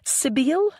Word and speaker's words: Sibylle: Sibylle, I believe, rather than the usual Irish pronunciation.